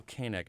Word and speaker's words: Keineg: okay nak kan AC now your name is spelled Kei NE g pronounced k nak nak Cattell k neck joins me here in